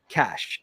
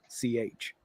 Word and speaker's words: Cach: He is CACH, which I Okay. can't help but kind of want to pronounce as CAC. Yeah, because there's no E at the end. Yeah, but it's pretty sure it's Cash though, is how we say it.